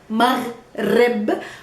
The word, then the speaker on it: Maghrib: But if you want to learn Arabic, you need to pronounce well the letter Ghain, which is found in this word, Maghrib, with a Ra after it, rolling your R. Maghrib.